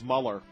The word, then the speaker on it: Mueller: guy for you know I like the German pronunciation but it's Muller and and what would